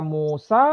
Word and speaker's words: Musa: Jadi secara bacaan tidak ada masalah mau dibaca Musa, mau dibaca Mose, boleh dan itu benar.